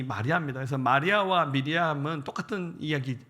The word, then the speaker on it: 마리아: 여러분 이 히브리식 발음은 미리암이고 신약에 와서 헬라식 발음이 마리아입니다.